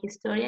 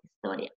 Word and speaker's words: historia: So for example, in Spanish, the H is mute, so you wouldn't say helado or historia, you would say helado or historia.